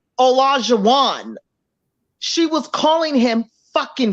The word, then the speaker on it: Olajuwon: So it's Olajuwon. A lot of people just call him O because they can't, pronounce. Yeah. But it's basically like Elijah, but with an O. Olajuwon. But it's Olajuwon.